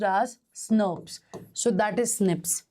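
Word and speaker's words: snRNP: Remember in splicio zone we discussed and it is what it is pronounced as snurpers.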